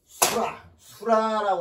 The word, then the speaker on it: 수라: 여기서 하나 중요한 단어가 있는데 수라라고 하는 단어가 있어요. 수라라고 하는 단어가 있는데 여기서는 찌를 자객 수자라고 읽지를 않고 여기는 라로 읽습니다.